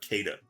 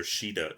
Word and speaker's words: Caeda: you pronounce it as Shiida, but it's spelled E I E D A. For the longest time I will call her Caeda. Um but I'm pretty sure Shiida is the right pronunciation.